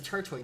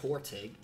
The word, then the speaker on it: Turtwig: It's a Turtwig, not a Tortig. I said Turtwig.